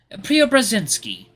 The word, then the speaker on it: Preobrazhensky: Preobrazhensky. His full name is Konstantin Preobrazhensky. Even as Lucas pronounces it, it's like he isn't even saying real words.